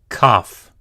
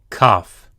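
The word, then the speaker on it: כף: Kaf. Kaf. This looks like a backwards C. It is either pronounced hard, k, k, as in kite, or ch, as in loch, just like chet.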